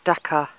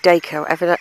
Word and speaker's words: Dacre: But here's Dacre Church, Dacre Castle, Pele Tower, and St Andrew's Church, Dacre, or Dacre, however you want to pronounce it, over there.